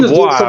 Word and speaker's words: Dubois: Yeah, and remember, I think Dubois, whatever you say his name.